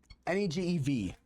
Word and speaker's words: Negev: Restore our fortunes, O Lord, like streams in the Negev. By the way, to anyone that's worried about the word I just said, that's actually how it's pronounced. Negef. Negev.